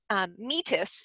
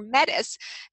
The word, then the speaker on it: Metis: And he has a wonderful lecture on about Metis, if you want to use the British pronunciation, or Metis, the goddess of cunning, that